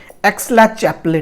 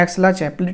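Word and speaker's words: Aix-la-Chapelle: Treaty का नाम था एक्सला-चैपले treaty. Pronunciation might be different guys, please do not mind, बहुत लोग इसको अलग भी पढ़ते हैं, इसको हम ऐसे पढ़ते हैं एक्सला-चैपले ट्रीटी।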